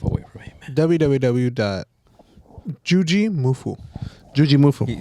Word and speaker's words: Jujimufu: Jujimufu.